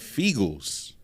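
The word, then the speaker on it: Feagles: Fiegels, because it rhymes with Eagles.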